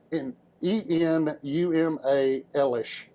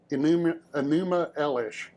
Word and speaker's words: Enuma Elish: Yeah, and I always mispronounce it. Where is it? I wrote it down this time so I could actually. Enuma Elish. Enuma Elish.